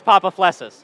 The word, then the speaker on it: Papaflessas: Is it Papaflessas? Yes. What is it actually right, though? Yeah. All right, so it is Papaflessas. Yeah. All right, on three, go Papaflessas.